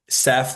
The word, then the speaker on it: Seph: it's Seth y'all Seth like Joseph without the Joe or Sephora without the aura is is is the